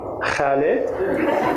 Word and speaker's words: Khaled: He took a hard look at my name and said, "Khaled?" "Yes," I replied, finally a proper pronunciation, until he said, "Khaled?"